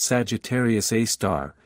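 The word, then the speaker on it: Sagittarius A*: It's called Sagittarius A asterisk, pronounced Sagittarius A star, named for its location in the constellation Sagittarius.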